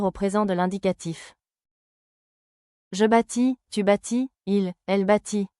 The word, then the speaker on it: bâtis: Au singulier, les trois formes se prononcent de la même manière. Je bâtis, tu bâtis, il elle bâtit. Les consonnes finales ST ne se prononcent pas.